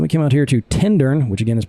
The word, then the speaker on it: Tintern: So then we came out here to Tintern, which again is pronounced Tindern, not Turn.